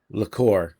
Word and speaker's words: Lacour: And then Brian Laker, no, Lacour, because he said he pronounced it like Bellacour.